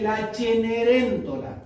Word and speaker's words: La Cenerentola: La Cenicienta, o la bondad triunfante, que es el título original en italiano la Cenicienta se dice la Cenerentola.